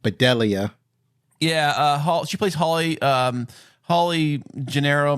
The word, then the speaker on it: Bedelia: I want to say her name is pronounced Bedelia.